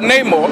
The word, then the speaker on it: Namor: So Namor.